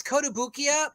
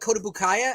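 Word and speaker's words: Kotobukiya: Koto boo how do you save so it's kotobukia but I've actually heard people call it codobukaya as well you know every year we go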